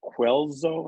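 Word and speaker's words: Guelzo: Quelzo, I believe is how it's pronounced.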